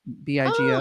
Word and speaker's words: Bigo: Bigo is it's spelled Bigo, like big, Bigo.